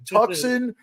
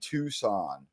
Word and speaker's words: Tucson: bullshitting me about the city you live in tuxen there's no name there we all know that tcon is spelled t w s a hn Tucson it's the letter to right like one the